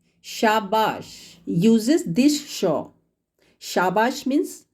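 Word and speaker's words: शाबाश: This sh is called talavya sh in Hindi. Hindi word shabash, shabash uses this sh.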